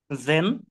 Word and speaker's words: zehn: sieben, acht, neun, zehn, ছেন ভাইয়া, ছেন। then, জেড কে মূলত ছয়ের মতো উচ্চারণ হয়, ছেন।